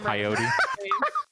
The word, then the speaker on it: coyote: To be fair, I did see it when Coyote. Oh, coyote and coyote. That's funny. I said coyote.